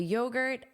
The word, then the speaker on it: yogurt: So notice the syllable stress is on that first syllable, and because of that, this sounds like an unstressed sound. Gert, gert, yogurt, yogurt.